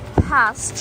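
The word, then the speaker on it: PATH: It's open 24/7 because it has a PASS train in it and subway, which works 24/7 in New York. What is a PASS train? It's spelled P-A-T-H, and it's a train that goes to New Jersey.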